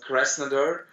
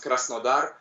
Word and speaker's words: Krasnodar: Well, actually, I live in a city called Krasnodar, and it's in Russian it sounds Krasnodar, but yeah, in English it's better to pronounce like Krasnodar.